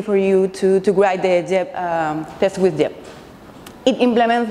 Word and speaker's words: Geb: is the first thing you see yep it's pronounced jab not happy not get up I know yep